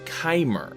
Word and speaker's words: Chimer: This is properly pronounced by several people in the lore community as Chimer.